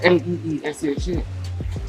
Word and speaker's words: Leshurr: Leshurr would normally be Leshurr, Leesha. Yeah, no. So my name is Melesha, and it's still pronounced Melisha. It's got one E in. You know why? Because you're British and y'all don't pronounce the R.